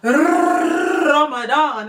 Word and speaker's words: Ramadan: the holy month it's Ramadan okay you got to roll your R when you say it um if you don't